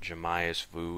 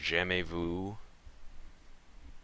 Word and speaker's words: Jamais vu: exclusive Mission sham Vu there are pronunciation dictionaries that you can go to to look up French words it's not jamas Vu it's j Vu opposite of deja vu